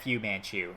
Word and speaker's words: Fu Manchu: But I think the blitz is almost exclusively coming from Fu Manchu. Or Fu Manchu, as that should be pronounced. Yes, it's FU.